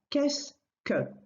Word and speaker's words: qu'est-ce que: Pronunciation-wise, it's very straightforward. Qu'est-ce que? Two syllables.